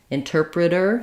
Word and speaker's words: interpreter: have the ID ending interpreted interpreter same thing the T changes to a flap interpreter interpreting same thing flap